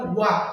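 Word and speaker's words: walk: ওয়াক, এই যে এল এর উচ্চারণ নাই, এল সাইলেন্ট থাকবে এখানে।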